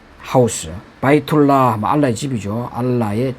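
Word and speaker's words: بيت الله: 집 하우스 바이툴라 하면 알라의 집이죠.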